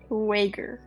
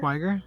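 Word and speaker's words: Til Schweiger: Schwager. Still Schwager. Schweiger, Schweiger. Till Schweiger.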